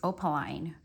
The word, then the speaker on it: opaline: to say the name opaline seems to be the majority pronunciation but then I saw on a Miriam Webster it's opaline so maybe one is British pronunciation I don't know so opaline opaline however you say